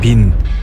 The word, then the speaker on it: 賓: 이 글자의 발음은 빈, 뜻은 손님, 부수는 조개패, 총 14획입니다.